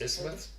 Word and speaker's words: isthmus: And that is Is isthmus. Isthmus. Yep. Because the TH is silent, fortunately.